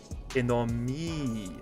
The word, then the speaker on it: ennemi: E isn't I, it's E. Oh, okay. Ennemi.